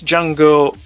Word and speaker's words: Jango: That's Django with a silent D. So silent he doesn't have one.